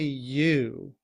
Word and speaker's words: you: Often in reduced form, we don't say you. Instead, the oo sound in you becomes as represented by the schwa, So this is pronounced y, y.